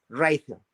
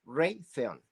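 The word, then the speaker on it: Raytheon: me faltó hay otra cuarta que es importantísima ron ron esa es a lo mejor mucha gente ni Ha oído la palabra ron se escribe como r a y t h e o n reay theon no Sabrá Dios que significa pero esa como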